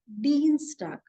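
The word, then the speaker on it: Dienstag: d i e NS so whenever I E that combination comes I combination it is always e so it is Dean star it is like double e the long e Dean star then for Wednesday it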